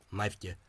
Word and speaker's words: naimhde: So here we have what would have historically been nótaí. So we have a long vowel, we have a voiced fricative, in this case M shave, softened M, and we also have a voiced coronal or tongue front consonant, in this case D. So that means that nótaí is, the vowel will become shortened to naimhde, and that's still the pronunciation that you find in Ulster, but you can't.